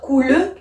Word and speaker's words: coule: Je suis obligée de dire coule puisque là ici commence par une consonne.